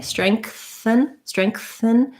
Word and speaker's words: strengthen: I think you can do either. So if it's easier to do the K, strengthen, you can. You're not really going to hit that K super hard, like not strengthen, strengthen. Whatever happens naturally. If there's a little bit of a K sound in there, great. And if there's not, I think it's all right as well.